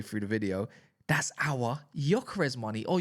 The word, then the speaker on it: Gyökeres: That's our Gyökeres money, or Gyökeres, if you want to call him that, because that's how you say his name.